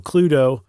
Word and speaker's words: Cluedo: around 1949 yeah uh they named it cluto like you said spelled like clue with doo at the end M um that is